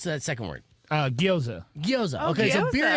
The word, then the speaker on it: gyoza: And then the birria, how do you pronounce that second word? Gyoza.